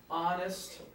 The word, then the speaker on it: honest: the beginning right honest friend check this out yeah all right that's right an hour-to-hour as well because the H is silent even though it's a consonant you know I don't